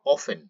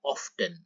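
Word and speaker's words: often: সো কত সময় পর হাউ অফেন অথবা এই উচ্চারণটি এভাবে বলা যায় হাউ অফটেন আর কিভাবে হাউ এলস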